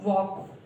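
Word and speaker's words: walk: हमें ध्यान रखना चाहिए ये कुछ ऐसे वर्ड हैं जिनमें जो एल है वो साइलेंट होता है, और सही प्रोनाउंसिएशन क्या होगा, वॉक, कॉफ, हाफ, फॉक। तो ये जो है ये हमारा सही प्रोनाउंसिएशन होगा।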